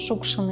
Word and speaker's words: Шукшин: en accentuant la première syllabe, car c'est la bonne façon de le prononcer. Oui, Shukshin. Et lorsque Vassili Makarovich est devenu populaire, le nom de famille a été constamment mal prononcé, avec l'accent sur la dernière syllabe, ce qui nous est devenu plus familier.